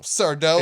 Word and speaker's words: Sardo: Sardo. It's not Sardo. It's accent on the dough.